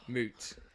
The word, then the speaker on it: Mout: And according to their website, it is in fact pronounced as MOOOT. Moot.